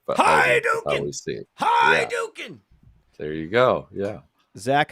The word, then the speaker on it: Hiduk: Talking to uh Zach, how do you uh how do you pronounce your last name? Hi, Duke.